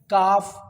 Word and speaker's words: calf: CALM, काम, PALM, palm, CALF, काफ, HALF, हाफ, WALK, walk, TALK, talk, BALM, bomb, WOULD, उड, और SHOULD, should.